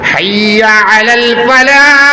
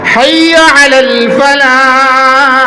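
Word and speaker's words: حي على الفلاح: হাইয়া আলাল ফালাহ, হাটা বুঝা যাইতো, হাইয়া আলাল ফালাহ।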